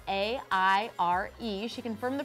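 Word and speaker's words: Aire: with his new name, which is Air, spelled A-I-R-E. She confirmed the pronunciation after fans thought it might be Airy, but it's Air.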